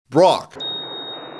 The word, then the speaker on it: Brock: Brock. His name rhymes with rock.